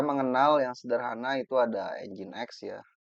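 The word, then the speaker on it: nginx: Kita mengenal yang sederhana itu ada engine X ya tulisannya ngings ya dibacanya engine X.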